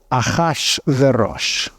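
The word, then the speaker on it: Achashverosh: ARA Xerxes interesting but in Hebrew he's called aash veros aash which is basically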